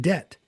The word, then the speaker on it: debt: And so they added extra letters like the B in debt and subtle and all of Dumpa. all of those letters that you don't pronounce in a word Yeah.